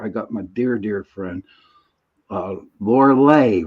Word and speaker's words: Lorilei: But tonight, since we only have an hour, I got my dear friend, Lorilei, right? Lorilei. Lorilei. Lorilei. It's spelled like Lorelei, but it's Lorilei.